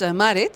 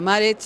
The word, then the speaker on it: Marit: Yes, Marit for the Dutch-speaking people, but Marit for the English-speaking people.